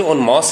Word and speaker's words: en masse: वैसे मास से नहीं पढ़ने से ऑन मास होता है वैसे AENMASSE ऑन मास इसको पढ़ा जाता है ऑन मास वैसे मैं